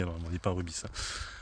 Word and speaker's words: Rubis: 2 ans en arrière je disais Ruby et les abonnés m'avaient dit mais non investe faut prononcer le S c'est rubis et c'est pour ça que